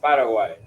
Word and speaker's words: Paraguay: welcome at in the world and Paraguay is pronounced Paraguay it's like it's like f y f Ur